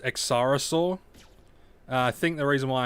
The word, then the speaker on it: Exarosaur: i know it's pronounced accarasaur i think the reason why i say exosaur is just because i don't know lazy australian brain uh i know it's x cyrosaur but i don't know